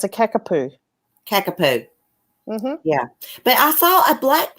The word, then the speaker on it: kakapo: It's called a kakapo. That's what I was talking about. They look like massive budgies. Yeah. Yeah. How do you pronounce So that? funny. Yeah, it's a kakapoo.